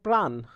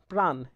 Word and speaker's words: প্রাণ: আকার আছে, তাহলে কিন্তু সেই উচ্চারণটা সেই আকার সহই উচ্চারণ হবে আর সেটাতে ওকারান্ত হবে না বা অন্য কিছুও যুক্ত হবে না। যেমন মনে করো, প্রাণ, প্রাণ, এখানে কিন্তু পয়ের সাথে